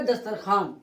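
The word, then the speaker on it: دسترخوان: दस्तर खवान लिखा गया मगर पढ़ा जाएगा दस्तरखान।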